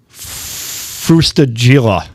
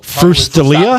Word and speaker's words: Frustaglia: to give you all a hint. The G is silent. to say it's It's Well, Frustaglia?